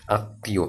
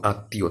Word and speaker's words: আত্মীয়: দুইবার উচ্চারণ হয়, যেমন দেখো এই যে তয়ময় দীর্ঘী অন্তস্থ, আত্মীয়, আত্মীয়, তয়ের উচ্চারণ কয়বার হচ্ছে? দ্বিত্ব হচ্ছে।